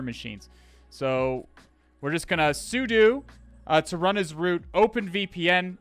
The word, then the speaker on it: sudo: Am I the only one who pronounced it sudo? It's sudo, because you're switching user and you're doing. Switch user and do.